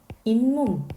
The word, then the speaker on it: 잇몸: 그런데 이거를 우리 어떻게 발음하죠? 잇몸 이렇게 발음하는 거예요.